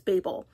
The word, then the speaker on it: Babel: Kuang, and that is Babel, or some people pronounce it as Babel.